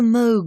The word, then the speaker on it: Moog: and record although the Moog synthesizer the word rhymes with vogue not fugue has had its greatest